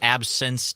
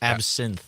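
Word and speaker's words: absinthe: right so absence day no not absence day absence AB how do you say it absinth like the drink the drink the LI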